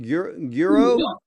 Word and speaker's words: Guro: How do you is it Guro? yeah, it's almost like guru.